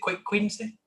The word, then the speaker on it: cuídense: Is it cuídense? Cuídense, yes.